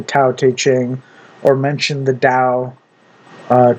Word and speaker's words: Tao: And I can definitely see why CS Lewis endorses the taq ching or mention the dao uh tao because t is pronounced d in Chinese uh and so on.